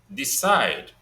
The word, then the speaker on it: decide: and the same thing goes with, okay, decide. Decide. Stressed on the second syllable.